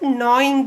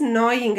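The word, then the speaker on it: gnawing: let us see about knowing the food children here in this server GN aww-ing will pronounce this as knowing actually so G remains silent here ok you have to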